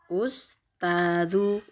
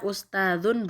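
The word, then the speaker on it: أستاذُ: Ya Ustadzu, Ustadzu bukan ya Ustadzun bukan.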